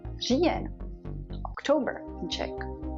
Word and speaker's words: říjen: Now let's look at R in the beginning of the word, like říjen, October in Czech.